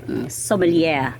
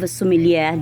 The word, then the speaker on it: sommelier: diploma um French word it's a French word it's s-o-m-m-e-l-i-e-r Somalia but when you say it in a business way how are you going to pronounce it it's okay a master of sumilia diploma this um as